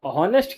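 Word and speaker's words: honest: Option number D एन क्योंकि शब्द ऑनेस्ट की शुरुआत एच से होती है। एच से होती है। क्योंकि इसमें साइलेंट होता है इसलिए इसका उच्चारण अ यानी कि वोवेल साउंड से शुरू होता है।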